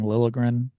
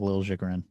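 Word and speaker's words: Liljegren: I'm going to mention Timothy Lagrin is how we decided he is pronouncing it. Yeah, that's according to Hockey reference. Yeah, it used to be people saying Lilligrin at one point, but they have Lil Jigrin, so that's what we're going with.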